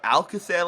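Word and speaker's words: Alcácer: You guys said Alcacer last night, that's how you pronounce it, so I'm going to go with Alcacer.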